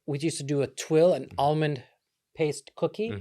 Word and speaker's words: tuiles: It's not twills. It's twill. I said twill.